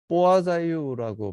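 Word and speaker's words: Poiseuille: 이번에는 포아자이유라고 발음하는 게 더 맞을 것 같은데 이것도 이제 프랑스어라고 생각이 됩니다.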